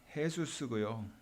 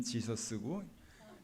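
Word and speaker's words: Jesús: 왜냐하면 간호사는 헤수스고요, 약사는 엔젤이었었어요. I laughed because the nurse's name was Jesus and the pharmacist's name was Angel. 우리식으로 발음하면 간호사는 지서스고 약사는 엔젤이었던 거예요.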